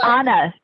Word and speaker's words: Anna: No, you got it right the first time. Okay, Anna. It's actually Anna.